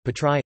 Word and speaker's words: Πάτραι: Patra, Classical Greek and Kathorevisa, Patrai, place, Greek pronunciation, Patrai, Latin, Patrai, place, is Greece's third largest city